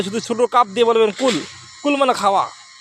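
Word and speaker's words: قل: হবে প্রথম ভুলটা হল কুল কুল না বলে বলতে হবে কুল ধাক্কা দিয়ে বলতে হবে প্রথম দ্বিতীয় হল কহু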